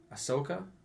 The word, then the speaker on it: Ahsoka: are even better times he's a good actor Ahsoka that's how you say it I've been saying